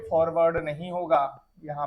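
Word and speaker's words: foreword: एक वर्ड यहाँ पे फॉरवर्ड नहीं होगा, यहाँ पे सेकंड पार्ट एक होता है FOREWROD। फॉरवर्ड इसका प्रोनाउंसिएशन है, जिसका मतलब होता है प्रस्तावना।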